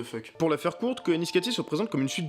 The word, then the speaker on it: Koyaanisqatsi: Koyaanisqatsi, prononcé Koyaanisqatsi, est donc un film qui, pour commencer, est